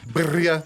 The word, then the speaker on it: birria: And we had the birria tacos, you know, the hard R.